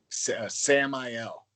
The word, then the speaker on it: Samael: your last name again it's Sam L Samael Samael okay I'm I'm terrible